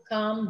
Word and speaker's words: calm: And in some places, the L is silent. Calf, yoke, calm, balm, right?